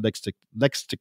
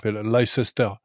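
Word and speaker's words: Leicester: en revanche effectivement l que tous les mecs du Sud-Ouest appellent l sester parce que c'est il y a le y a le c'est et c'est difficile pour des Français de dire l sans sans prononcer ce truc en plus on les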